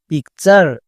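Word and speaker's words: picture: এর জন্য চার উচ্চারণ হয়, চার বসিয়ে দিতে হবে। যেমন পি আই C, pick, P ইউ আর ই, চার, পিকচার। এরকম করে উচ্চারণ করতে হবে।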